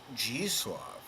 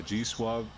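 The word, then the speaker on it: Zdzisław: G-Suave. It's spelled ZDZISLAW. Like I understand the W becomes a W with a V sound, right?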